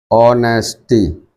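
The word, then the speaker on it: honesty: से प्रारंभ जरूर है, बट इसका प्रोनाउंसिएशन क्या होता है, ओ, ऐसा, ऑनेस्टी। तब फिर इसका प्रोनाउंसिएशन क्या है, एस तो साइलेंट है, तो ये बाउल आ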